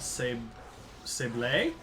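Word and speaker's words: sablé: Zawawa Sable, or because there's an accent on it, Sable.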